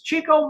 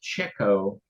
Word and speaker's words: Chico: stop them and say hey some mispronunciation going on there um but technically and in fact it was Cho because he chased and frequently caught chicks he was a notorious